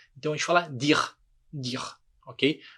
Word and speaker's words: dire: Da mesma forma, dire. Terminou em E, a gente omite esse E na hora de falar e simplesmente fala a consoante que vier antes.